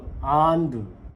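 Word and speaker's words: உண்டு: 안돼 이게 참 웃긴게 이게 책에서 배우면 이게 정확히 발음상 글자로 발음하면 안두예요 분명히 모음 끝에 우가 있어요 책으로 공부하면 한 사람은 안두예요 근데이 모 우라고 써 놓고 타밀인들이 이걸 절대로 우로 안 읽어요로 읽어요 안드 우리말에 또 역시 한참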